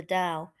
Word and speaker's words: Tao: the principles of the Tao pronounced Dao d-o-w which they believe governs